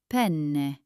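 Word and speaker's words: penne: But pen is the pasta we all love.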